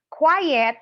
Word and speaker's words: quiet: truths quiet and quiet quiet rhymes with diet is not to be